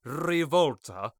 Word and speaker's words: Revolta: Meanwhile, a witch of the web named Revolta, yeah, you have to say it like that, you have to say it like that, who reminds me of Spydra from Gadget Boy.